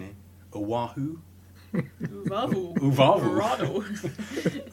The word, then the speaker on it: Oahu: pronunciation here, Oahu. Uvavu. Uvavu. Oahu in Hawaii, involving a diver called Ocean Ramsey and her fiance Juan Oliphant, who was the photographer.